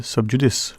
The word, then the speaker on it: sub judice: saying because remember he gave me the proper pronunciation for years I was saying it and he said no it's sub judice right so he says that you're reporting what